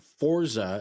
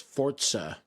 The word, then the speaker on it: Forza: Forza is apparently how it's supposed to be pronounced according to the developers. So it's not Forza, it's Forza.